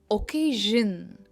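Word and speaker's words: occasion: इनमें शन नहीं आता है, ये है ओकेजन। इनमें जन साउंड आता है और के पर इसका स्ट्रेस है।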